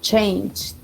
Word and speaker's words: changed: Entonces, si ustedes ven, toda esta lista de verbos la vamos a pronunciar o la vamos a escuchar como si tuviera una D al final, y esa va a